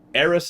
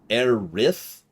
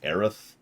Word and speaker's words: Aerith: Eris is how I prefer to say it because that flows a lot better in English. Aerith, really emphasize that. Really emphasize the two the two syllables. Aerith. Actually kind of effectively make that. That would actually work better. But if you try to slur them together like Aerith, it just kind of...